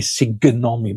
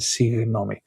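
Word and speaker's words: συγγνώμη: Um there you would see that the two gamma are a G sound, a guh. So they are it should be sigonomi, but it's not sigonomi, signomi. Guh with a gamma. Signomi, sorry, excuse me.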